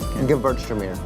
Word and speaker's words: Gewürztraminer: If you take the W and pronounce it like a V, Gewürztraminer.